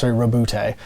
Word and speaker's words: Roboute: All right, Baba G, Roboute Guilliman for Roboute, as they pronounce it in the audio dramas, 465 points.